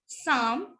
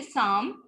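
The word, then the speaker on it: psalm: Initial spelling sequence कैसी हुई, जैसे जब इनिशियल में P आता है तो ज्यादातर, not most of the times but mostly silent होता है. जैसे निमोनिया, न्यूमैटिक, साम, साइकोलॉजी एंड स्यूडोनिम.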